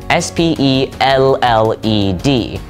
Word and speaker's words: spelled: l l e d so when you're spelling it like this you're going to say spelled with a d a d sound compare that with the British form spelt with a t so there is that